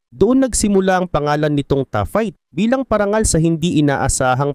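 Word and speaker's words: taaffeite: Ang tough fight. Oo, ganoon ang tamang bigkas ay isa sa mga pinakabihirang gemstones sa buong mundo at nadiskubre lamang dahil sa isang pagkakamali.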